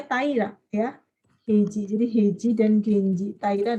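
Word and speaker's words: 平氏: Tapi kalau sendiri kan bacanya Taira, ya. Heiji.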